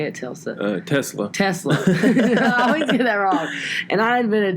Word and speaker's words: Tesla: I went back to the past and before telsa is that how you say it Tilson Tesla Tesla and I've been a Tesla before that